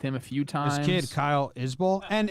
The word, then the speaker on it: Isbell: a few times kyle isbell and if he pronounces it like the singer jason it's bull not belle at the end but i don't know